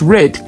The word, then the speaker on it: read: they make us believe the past stains of read should be pronounced red and not read it and this person says